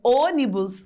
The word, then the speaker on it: ônibus: Já na palavra ônibus, o som fecha, até a minha boca dá uma travada, ó: o, o, o, o. O. Esta é a função dos acentos. Abriu, por quê? Porque é um som aberto e fechou, porque a palavra ônibus tem um som fechado, né, a letra o.